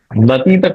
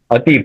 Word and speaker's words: अतीत: नतीत कभी मत बता। जो अतीत। उच्चारण अतीत अतीत। अतीत।